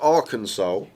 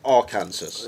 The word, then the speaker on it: Arkansas: But Arkansas is not pronounced Ar Kansas.